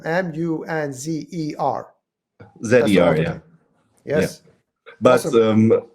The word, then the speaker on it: Munzer: Is that how you pronounce it? Munzer? Munzer, yes.